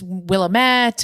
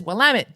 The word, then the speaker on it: Willamette: She said, because people always think it's Willamette or something along those lines, because how it's spelled, you wouldn't think to say Willamette. But the trick is Willamette, damn it.